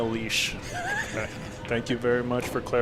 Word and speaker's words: Lesh: Nina Lesh says, and yes, that's how you pronounce it. People always say leash. That's how you say it, Nina Lesh.